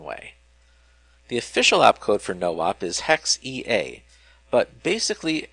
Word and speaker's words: NOP: have seen in passing, NOP, which stands for no operation, but is usually pronounced no-op, despite the mnemonic only having one O.